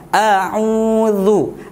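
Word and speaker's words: أعوذ: Baik, semua huruf yang berharokat dhammah, maka cara bacanya harus dimonyongkan bibirnya. Indima musyafatain, a'u, nggak boleh a'u, harus dimonyongkan bibirnya. A'udzu, a'udzu.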